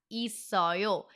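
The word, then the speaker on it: 있어요: Now, if you say it fast, isseoyo, isseoyo, isseoyo. Notice how the seu carried over to the second syllable and that's why we call it the carry over rule and that only applies when there is a patchim on the first syllable or the middle syllable, doesn't matter.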